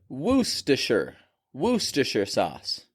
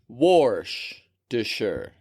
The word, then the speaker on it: Worcestershire: I found is that some people call it woer wer sauce they don't pronounce the r at all others literally say what's your sister sauce what's your sister's sauce which slows down to